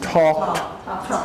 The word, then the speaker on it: talked: a needy on talk it's a T sound he talked he talked to each